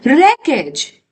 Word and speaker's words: wreckage: Now, what is the meaning of the word wreckage? W is silent.